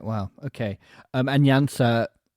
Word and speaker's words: Janša: Um and Janša, I'm using the English pronunciation of that.